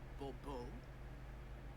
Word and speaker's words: Bourbeau: I expect you to address me as Sir, or better yet, as Monsieur de Bourbeau. Fine. Monsieur de Bourbeau. The emphasis falls on the last syllable. Bourbeau?